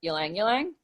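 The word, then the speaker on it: ylang-ylang: I want to chat with you about is Alang Alang um and that's how you pronounce it yelling yelling not I get I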